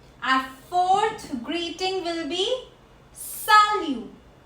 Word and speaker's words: salut: Our fourth greeting will be salut. Salut. Salut. T is silent here. We are not pronouncing T.